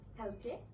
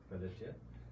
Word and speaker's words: Pelletier: Pelletier. Pelletier.